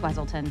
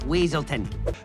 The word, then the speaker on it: Weaselton: of wesselton in Frozen Judy even mispronounces his name as wesselton in the film what were you gonna do with those night howlers wesleton it's weaselton the Duke of weasel